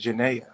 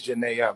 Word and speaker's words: Jenae: I am that's why your name is Janaya Janae yeah you've been saying it wrong it's Janae but it's your name